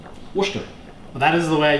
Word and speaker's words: Worcestershire: Worcestershire sauce. He would be incorrect. It's spelt Worcestershire sauce, but it's pronounced Worcester sauce. Worcester.